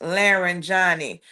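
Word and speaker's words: Larijani: So, Street Beater saying pronounced Laren Johnny. Thank you, Street Beater. I appreciate that. Yes, Laren Johnny.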